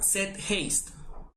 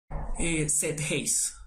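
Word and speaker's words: Zeitgeist: Se llama Set Haste.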